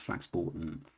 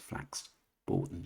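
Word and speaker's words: Flax Bourton: For someone who knows the Brisbia well, she was pronounced Flax Borton. Flax Borton. Sorry. Anybody that lives in here knows that is pronounced flax bordon strange.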